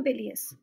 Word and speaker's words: bilious: एल आई ओ यू एस और इसे हम प्रोनाउंस करते हैं बिलियस इसका यूज एस एन एडजेक्टिव यानी विशेषण की